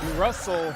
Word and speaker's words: Russell: genius that's his PL Russell rhymes with funnel how to Market how